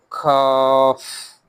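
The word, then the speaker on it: ك: Cough. Cough. It is lighter one. Back part of the tongue touches soft flate and hard side. Hot hard plate also.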